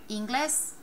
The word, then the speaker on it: inglés: Let me pronounce it 2 different ways. Inglés, inglés. Inglés, inglés. Definitely inglés. Breaks the rule.